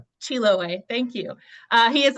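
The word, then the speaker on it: Chiloé: have to help me with this Anton Chiloway. Chiloway. Thank you. Uh he is also the co-editor of Monoky's Can you pronounce this book title for me too?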